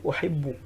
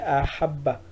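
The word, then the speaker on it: أحب: Maintenant, lorsque tu veux dire uhibbuka, c'est-à-dire uhibbu, c'est-à-dire j'aime. Donc, tu vas dire uhibbu. C'est la même chose, ça s'écrit la même chose, mais la prononciation est différente. Ici, c'est ahabba. Ahabba. Ici, c'est quoi? Ahabba.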